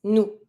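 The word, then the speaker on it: nous: going to say new careful with new don't pronounce the s new to say you Vu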